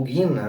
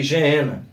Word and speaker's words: Geena: Depois nós vamos ver a palavra inferno como Geena ou Guina, Alguns interpretam ou mencionam a expressão Guina, mas se escreve ali Geena.